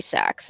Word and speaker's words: Sachs: Actually, Angrod, there is a guy on this server named Harry Sachs. It's just spelled. Oh no! It's spelled SACHS. Oh, like Saks Fifth Avenue.